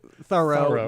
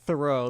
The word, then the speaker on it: Thoreau: name in contemporary times, it was pronounced Thorough, not Thoreau.